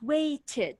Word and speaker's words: waited: idi tell me excellent waited why because the verb ends with t so two letters if it ends with t or d you pronounce it erd waited needed okay if it